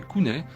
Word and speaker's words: Kunes: en 6 à 9 Kunes individuels prononcés Kounet c'est-à-dire des enfants de